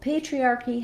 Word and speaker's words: patriarchy: First of all, patriarchy has the stress on the first syllable, and the letter A says the A diphthong.